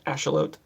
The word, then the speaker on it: axolotl: salamander to keep it's americans usually call them axolotl but uh you know that it's a mexican salamander they call it asteroid i think is how they pronounce it ashalot but it's a it's